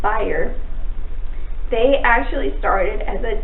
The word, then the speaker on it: Bayer: I always want to call it Bayer. It's Bayer.